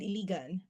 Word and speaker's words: Iligan: bring up my bio uh up Seliman and Iligan.